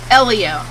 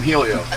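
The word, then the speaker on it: Hélio: he's won four indies elio i always call him helio listen i know what it means fellaini said it's it's like you're spelling the word leo l-e-o elio that's his name stop saying people's name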